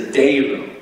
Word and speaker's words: Deiro: Before I forget, by the way, it's not Deiro, it's Deiro. If you want to pronounce his name, you got to say Deiro, okay? So many people, when I was a kid too, you hear Deiro, but it's actually Deiro.